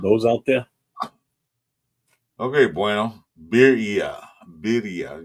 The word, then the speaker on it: birria: Birria. You gotta roll your R's though. I can't roll my R's. Birria. Yeah, That's Berea. Same thing. Birria. Berea. Same thing. Berea. Like La Brea Top Hits.